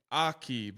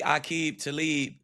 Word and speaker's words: Aqib: third person, you said your name Akib like like ah rather than a like you ate. Is that the proper pronunciation? Yeah, it's really a talib.